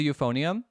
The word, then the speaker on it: euphonium: Oh, what is a euphonium? I think I brought it up on live one time. It's actually spelled with an E, so it's like EU, right?